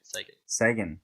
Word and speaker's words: Sagan: Sagan. Is that it? Sagan. Yeah, that's right.